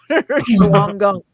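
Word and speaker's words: Shawangunk: the time there's the you're not going to pronounce this right shaum Shang Gunk we just say Shang Gunk mountains Al which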